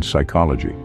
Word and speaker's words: psychology: Remember, the K in knee is silent, just like the G in gnome, the H in honest, and the P in psychology. With these common culprits in